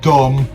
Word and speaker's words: dumb: So like with the word dumb, the B at the end, you just don't ignore it. You just remove it because it's silent.